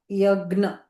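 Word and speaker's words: Yajna: Yagna. Okay, this is Yagna. No. And when we see when we see the letter C, we have to pronounce CH.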